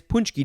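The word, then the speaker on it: pączki: this is the most important one it is punchy day it is spelled p a c z k i and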